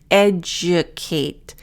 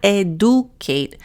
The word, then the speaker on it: educate: Educate. So not educate. Notice a schwa and the D is a j.